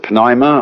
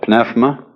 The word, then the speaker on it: pneuma: the greek word uh you may pronounce it pneuma or pneuma is the same as spirit